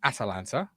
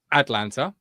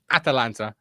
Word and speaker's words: Atalanta: But Ben Godfrey's now arrived on loan from Atalanta, not Atlanta. Like I got Atlanta told Falcons. It's just my pronunciation. It's my pronunciation. I definitely said Atlanta. So I've done it again. Atalanta, but it comes across as Atlanta.